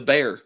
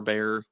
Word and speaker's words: Bexar: you seen the Bexar bear I guess it's technically bear because that's how you pronounce the place in Texas um have you ever